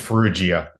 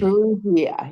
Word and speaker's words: Farrugia: And joining me is I'm I'm half ethnically Maltese, so in case you're wondering, I suck at the pronunciation, Frugia. It's Frugia, G. Frugia, yes, thank you.